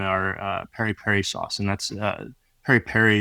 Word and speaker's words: PERi-PERi: It's flame grilled chicken that's marinated on the bone in our PERi-PERi sauce, and that's PERi-PERi is the Swahili pronunciation of the bird's eye chili.